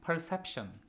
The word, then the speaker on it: perception: 자, 1번 perception. 자, 지난 시간에 저희가 perceive라는 지각하다, 무엇을 지각하다, 인지하다, 보다라는 동사에서 끝났습니다. 그거의 명사형 perceive라는 단어의 명사형인 perception, second syllable에 강세 있고요.